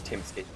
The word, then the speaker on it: Timsky: So I'd be quick to point out the dot that suggests that the I is separate, but B into this